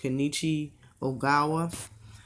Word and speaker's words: Kenichi Ogawa: old Tevin Farmer against, I believe his name's pronounced Kenichi Ogawa.